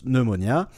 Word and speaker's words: pneumonia: Aussi, à un autre moment, voilà, sache que pneumonie en anglais, ça s'écrit pneumonia, mais ça se prononce pneumonia.